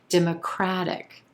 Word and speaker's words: democratic: ic suffix democratic democratic here we have four syllables and our our stress shifts if i can get my words out our stress shifts to the third syllable democratic democratic and the a is in black vowel sound democratic you'll notice too that that t is sounding like a quick d it turns into a flap t democratic she's a strong